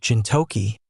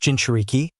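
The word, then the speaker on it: jinchūriki: You said something about gintoki or something. It's pronounced ginuriki.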